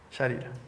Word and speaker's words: Sharira: Aí a gente tem o Linga Sarira, não sei se essa é a pronúncia correta. Sarira? Sharira.